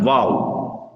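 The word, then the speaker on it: و: இரு உதடுகளும் இணைந்து வட்டமாகி உச்சரிக்கும் போது வெளியாகும் எழுத்து தான் வாவ். நான் உச்சரிக்கும் பொழுது எங்களுடைய 2 உதடுகளும் இணைந்து வட்டமாகி உச்சரிக்க வேண்டும், வாவ்.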